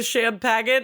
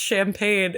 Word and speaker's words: champagne: he goes he goes do you at least want to finish the Sham packet and she goes I think it's pronounced champagne and he goes oh